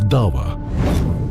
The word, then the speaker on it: Da'wah: Da'wah is the way it's pronounced.